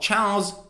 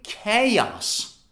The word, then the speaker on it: chaos: sound of ch right so is it cha chao chaos chaos it's like saying ciao and then making it plural chaos no it's actually chaos chaos chaos but what does